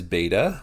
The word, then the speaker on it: beta: The second letter is beta, which sounds like the B in the word ball.